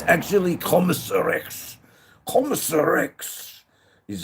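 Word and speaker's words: Kommissar Rex: Commissarex is how it's pronounced.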